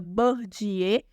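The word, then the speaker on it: Bourdieu: um francês chamado Pierre bourdiei tá se pronuncia bordier mas se escreve boa de eu tá certo o que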